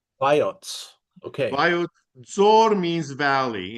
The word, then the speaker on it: Vayots: So here's and how do I pronounce the place? Voyat Vayots, Vayots.